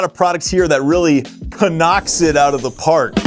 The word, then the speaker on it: Cnoc: It is Cnoc. It is not Cnoc. It is not Knock. It is Cnoc. And that's how it's pronounced.